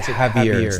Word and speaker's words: Javier: see J yeah yeah but the J is silent we pronounce it Havier instead of so instead